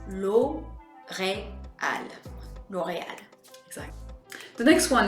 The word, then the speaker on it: L'Oréal: As we would say in English, we'd say L'Oréal, but in French, we're gonna say L'Oréal. You want to make sure that you break up each of the vowels. L'Oréal.